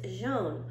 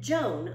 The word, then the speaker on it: jaune: The yellow the word for yellow is jaune, only I pronounced it Joan, like her name.